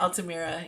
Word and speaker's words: Altamira: Altamira. Yeah, Altamira. yeah. I always pronounce it wrong in my head, but It's okay.